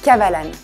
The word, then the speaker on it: Kavalan: Just three little syllables: Kavalan.